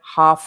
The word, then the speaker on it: half: spellings are horrible because everybody wants to say the l in half and spanish speakers usually